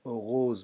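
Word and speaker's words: heureuse: لکه مذکر دپاره دلته استفاده کېږي اوغو، خو ولې مذکر مؤنث دپاره بیا اوغوز موږ تلفظ کوو. سپیلنګ کې هم لږ فرق راځي. اوغو، اوغوز.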